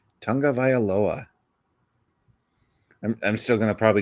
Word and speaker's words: Tagovailoa: Tagovailoa. I'm still going to probably just call him Tua because next week I'll probably forget. Yeah. There's no N in there, so I don't know where that comes from.